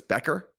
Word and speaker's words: Becker: been calling her buer because I just didn't know how to pronounce her name but it's Becker even though there's a u in the beginning of her name what do I know uh but there that